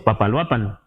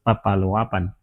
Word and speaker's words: Papaloapan: como pap lo Apan hoy decimos Papaloapan pero la pronunciación mejor es Papaloapan Papaloapan así Ahí está que podemos